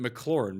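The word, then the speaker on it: McLaurin: mclaren gibson mclaren yeah i'm glad you pronounced it mclaren because people call him f1 which makes absolutely it's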